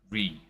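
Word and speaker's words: Ruighe: by the way it's spelled r-u-i-g-h-e and it's pronounced re like autism the meme of old and I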